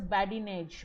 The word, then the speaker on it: badinage: Quickly, what does badinage mean? Badinage, that's how it's pronounced.